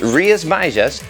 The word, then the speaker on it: Rías Baixas: Yes, it's pronounced Rías Baixas, and once you get the hang of it, it rolls off the tongue, I promise.